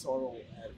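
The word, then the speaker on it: Sarel Erwee: He said, you've got to say it through your mustache.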